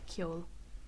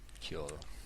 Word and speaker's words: ceol: It's Ceol, and it's spelled Ceol, and it's pronounced Ceol. Ceol.